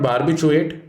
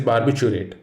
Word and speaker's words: barbiturate: It is not barbiturate, rather, it is barbiturate. Don't forget this word contains three others: barb, bit, you, rate.